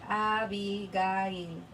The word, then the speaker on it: Abigail: say happy guy yes it's Abigail but it's pronounced in Spanish avi guy which is why everybody